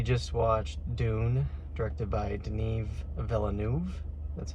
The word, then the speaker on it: Denis Villeneuve: Well, we just watched Dune, directed by Denis Villeneuve. That's how you pronounce it.